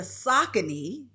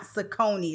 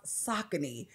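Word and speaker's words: Saucony: For me, I have on the Sakccin. And yes, that's Sakccin, not Sakonei.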